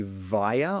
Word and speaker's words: via: Just going back to pronunciation, I think he was trying to say via or via, but I think he said with a W sound.